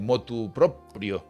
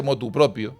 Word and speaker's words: motu proprio: Entonces, lo normal, en la palabra, la locución motu proprio, se suele, pues bien, adaptar al español y se dice motu propio.